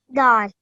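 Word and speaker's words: دال: Okay, this is dal. Da. Well, okay, so it has a dal. Okay, can you try that again for me? Dal.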